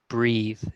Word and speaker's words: breathe: talk about the breath, that is pronounced breath, but then breathe is like a verb, breathing. So there's a difference, breathe and breath.